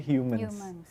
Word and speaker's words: HMNS: Pas lebih tahu lebih dalam, oh ternyata dibacanya Humans.